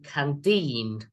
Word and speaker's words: canteen: Hong and Mike are in the school canteen, right? Remember, canteen, second syllable.